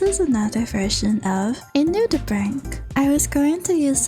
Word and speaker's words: nudibranch: How do you pronounce that word? Lullabread. Lullabread. Nudibranch. Nudibranch.